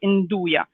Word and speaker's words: Nduja: accent at the beginning they make you aspirate you know i don't know how you say it in english anyway it's a way to pronounce it that makes it sound like it is an eye in do ya okay so that's a